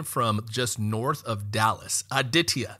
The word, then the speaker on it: Aditya: entrepreneur calling in from just north of Dallas aditia how are we doing doing great how are